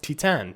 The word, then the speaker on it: Titane: the menu I think it is asked here titane um or as I've recently discovered it's actually pronounced T10 because it's French it was really cool like